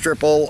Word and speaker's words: Trippel: the website it says our triple Belgian style ale pronounced triple opens with bold blast